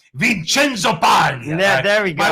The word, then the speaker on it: Vincenzo: paglia joe joe joe say it like an italian vincenzo yeah there we go